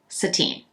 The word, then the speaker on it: Satine: top board Boutique that is violet sateen it's spelled s-a-t-i-n-e and there's a little accent on me um the the number